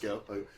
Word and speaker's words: Gough: It actually is just Go.